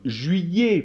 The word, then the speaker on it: juillet: g par exemple le et le thé comme juillet par exemple d'accord ou alors je sais pas